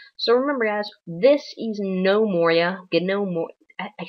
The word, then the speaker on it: Gnomoria: for this episode so remember guys this is no Moria get no more I said it right the first time and then I corrected myself with an incorrect pronunciation so this is no Moria and uh this is episode one of this